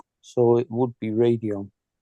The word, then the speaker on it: Radeon: Well, no, I mean, if you go by the normal pronunciation rules, there is an E after the D, which makes the A into a long A. So it would be Radeon. Radeon.